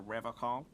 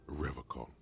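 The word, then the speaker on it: Revachol: someone has to stay strong for Revacol. He says Revacol, Yeah. like Nippon instead of Nihon. He's got some extra patriotism on that pronunciation. He pronounces Revacon with a hard K, unlike other people.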